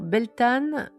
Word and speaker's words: Beltane: Alors, Beltane, prononcé Beltane est l'une des huit grandes fêtes du calendrier celtique et de la roue de l'année.